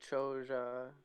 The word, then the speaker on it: Chola: language, or is it Chola the Tamil kingdom? No, it's the South Indian dynasty. In fact, in Tamil, apparently it's pronounced closer to like Choja.